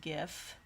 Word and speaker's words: GIF: else about the show how do you pronounce gif with a hard g i don't care what the original creator said he's wrong it's pronounced gif i'm sorry bio you